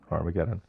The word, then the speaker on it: Har Megiddo: Did I pronounce that right? That's right. Har Megiddo.